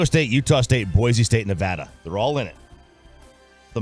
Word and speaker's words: Nevada: Diego State and Nevada all right I like Nevada I like that you say Nevada a lot of people don't get that correct